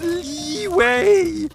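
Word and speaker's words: Liyue: ] up or what it's pronounced leeway jello i think you've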